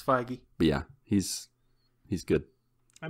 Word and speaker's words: Feige: just trust marvel uh kevin feige phage fiji frankie i don't know how to say his name it's feige yeah he's he's good